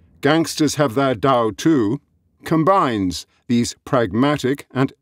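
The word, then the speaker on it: 盜: The Chinese word for gangster is pronounced Dao, just like the way.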